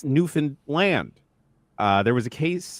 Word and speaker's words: Newfoundland: Pronunciation of this beautiful province does not end with London Canadians say. It's Newfan Land.